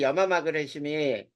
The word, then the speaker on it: 염화마그네슘: 염화마그네슘이라고 읽어. 그리고 이 염화마그네슘이 쓴맛을 나타내는 우리 두부를 만들 때 쓰는 게 이 MgCl2 간수라고 불러.